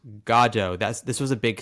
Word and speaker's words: Godot: And yes, it is pronounced Gajjo.